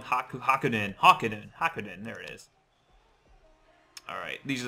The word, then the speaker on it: Hakunin: Just be quiet, Hanakin. Alright. Probably pronouncing that wrong. Hakunin.